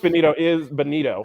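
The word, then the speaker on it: Bonitto: Now, Nick Bonito, I believe is how you pronounce it, not Bonetto.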